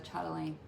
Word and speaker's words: chatelaine: Alright, I was going to show you the progress on the chatelaine. Chatelaine is how you're supposed to pronounce it apparently, with the SH instead of a CH.